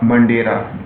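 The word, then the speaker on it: Madeira: ध्यान दीजिएगा largest tributary क्या है इसकी मंडेरा मंडेरा प्रोनाउंस ऐसे ही है मंडेरा और य जो आपके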